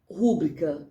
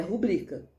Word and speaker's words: rubrica: Rúbrica, está errado. Rúbrica, está errado. É rubrica.